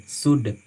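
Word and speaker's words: should: है, गलत उच्चारण है, इसको हम पढ़ते हैं उड, कुड, सुड, ऐसे पढ़ते हैं, एल साइलेंट होती है।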